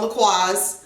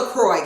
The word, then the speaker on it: La Croix: And it's not LaCroix, guys. It's a French word. It's La Croix. Okay, the O-I-X is pronounced Croix, and the whole thing is pronounced La Croix.